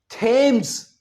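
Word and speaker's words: Thames: सो इसे हम थेम्स नहीं कहेंगे। क्या कहेंगे? थम्स।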